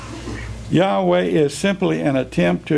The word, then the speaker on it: Yahweh: This is a publication by the Witnesses, and in under Jehovah, it says Jehovah is the best known English pronunciation of the divine name. Yahweh is favored by most Hebrew scholars.